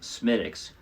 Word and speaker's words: Smithwick's: And yes, although it's spelled Smithwick's, it has been pronounced Smittix for longer than America has been around.